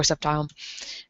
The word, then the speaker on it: Sceptile: saying that totally wrong i have heard people say septi i've heard sceptile i say it as sceptile i'm probably not supposed to pronounce that c i'm probably not supposed to pronounce it see at all um i have